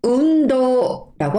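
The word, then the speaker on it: うんどう: 운동은 운도라고 합니다. 한국 발음하고 되게 닮았죠?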